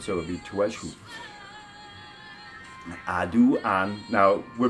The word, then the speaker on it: عدو: Now in Arabic, the word for enemy is pretty easy to pronounce. It's adu, adu, adu, adu, adui, my enemy, adui, enemy, adu al-insan, enemy of humanity.